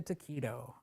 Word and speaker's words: taquito: roll it like a taquito all right my ancestors are so angry that I pronounced it taito so you see I'm